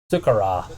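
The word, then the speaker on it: Sakura: Sukara. That's how you say it.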